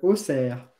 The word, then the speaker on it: Auxerre: Ah, tu prononces pas Auxerre, tu prononces Auxerre.